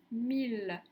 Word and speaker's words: mille: guy la ville lille mille dans ces trois mots le graphe m i ll se prononce il est donc pas comme